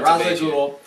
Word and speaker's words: Ra's al Ghul: There's a villain named Ra's al Ghul. Am I saying that right? I'll never say it correctly. Okay, cool. I did it right. Ra's al Ghul.